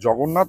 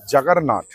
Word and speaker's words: জগন্নাথ: কিন্তু সমস্যাটা বাধলো একটা সেটা হলো তারা জগন্নাথ উচ্চারণ করতে পারলেন না। তারা সেটাকে করলেন হচ্ছেন জাগারনাথ।